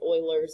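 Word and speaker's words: Euler: is not English not a English name it's Oilers is how you pronounce it Oiler constants um it's a lot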